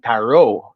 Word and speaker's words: tarot: those the parrot cards i even said it with the unsilent t and he looked at me corrected me and he said you mean taro i said ah yes